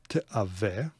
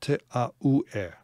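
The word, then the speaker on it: תְּאַוֶּה: It is pronounced as a consonant. I suppose these are pronounced too, but it's pronounced as a consonant. Te ave. The dagesh in the vav does not indicate shuruk, okay? So don't read this as u. It's not te a u e.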